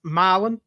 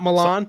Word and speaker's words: Milan: a city in Tennessee spelled the same way as a very famous city in Italy not pronounced the same it's pronounced milin not Milan mil it's like it's